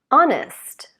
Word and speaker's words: honest: Honest or honesty.